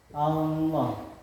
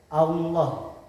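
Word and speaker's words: الله: Contohnya Allah yaitu lam jalalah didahului oleh harakat fathah. Cara membacanya yaitu tebal. Posisi bibir agak mencorong ke depan. Allah.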